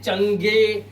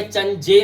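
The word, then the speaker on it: change: और ऐसे ही चेंज, अब इसे चंगे या चंजे नहीं पढ़ते हैं, सिर्फ चेंज, और लास्ट का ई साइलेंट है, इसका मतलब होता है परिवर्तन।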